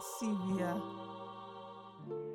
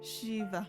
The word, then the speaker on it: Shiva: And Sivia. Shiva. Yeah, Shiva. Shit. Oh my god. Ah, thank you. Can we pretend that didn't happen? Yeah, we're good. I'll pretend. Shiva. I keep thinking back at how I pronounced it wrong, even though I've seen